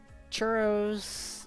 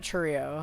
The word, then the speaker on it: churro: Well, like, I had, churros from the grocery store, too. It's churro, not churrio.